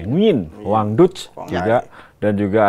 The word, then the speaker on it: Nguyen: Nah, kalau di tengah ini yang paling sering kita dengar Do Hung Duk, kemudian Nguyet Tuan An, Nguyen, bacanya Nguyen katanya, Nguyen, Wang Duc juga, dan